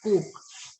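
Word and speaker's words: coq: Cock is pronounced as coke.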